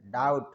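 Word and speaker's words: doubt: पता Island S silent डाउट B silent सक rain जी silent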